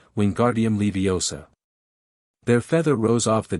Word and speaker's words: Wingardium Leviosa: Wingardium Leviosa. He shouted, waving his arms like a windmill. You're saying it wrong, Harry heard Hermione snap. It's Wingardium Leviosa. Make the gar nice and long.